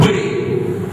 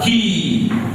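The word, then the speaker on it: quay: Not way, but he.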